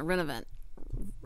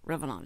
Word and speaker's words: Revenant: what does it mean everybody's calling it renovent Revenant Revenant but it's a re Revenant Revenant is what uh the correct uh pronunciation of the word and it means someone